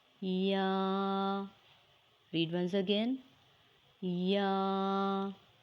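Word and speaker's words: ي: Ya is a light and soft sound letter pronounced by middle of the tongue and roof of the mouth. You can read after me. Ya, Ya. Read once again. Ya.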